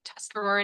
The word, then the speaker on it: Tuscarora: So you're saying it right. Tuscarora Nation is correct.